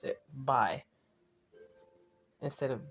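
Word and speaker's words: Bay: b a y but they he pronounced it pronounced it by instead of B by let mean by and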